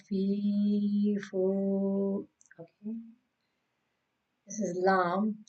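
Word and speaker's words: ل: This is lam. Lam pronounced on the edge of the tongue, touching the all front teeth, up front teeth. La, like spread your tongue, like la, la, lam.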